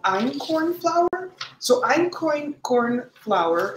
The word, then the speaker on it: einkorn: And what I'm going to use today is actually called einkorn flour. So einkorn flour, it's spelled E-I-N-K-O-R-N.